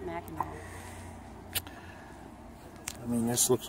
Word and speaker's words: Mackinac: No, it's Mackinac. It's why is it? It looks like it says Mackinac. I know, but it's pronounced Mackinac.